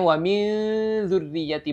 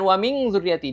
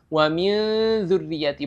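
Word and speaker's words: وَمِن ذُرِّيَّتِي: makhraj huruf setelahnya ya jadi bacanya waminriyati bukan waming zuriyati diingat ikhfa itu tidak ng atau tidak Eng Ya waminriyati bukan waming driyati tib kita lanjut durriyati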